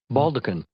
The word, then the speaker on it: baldachin: Baldekin. Baldekin. It looks like maybe baldachin, but it's pronounced baldekin.